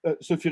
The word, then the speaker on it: Sophie: little brief introduction about who sophia is that's how you pronounce your name in french but you can say uh sophie risto huber that's the uh accepted pronunciation in english and even in german for that matter she was born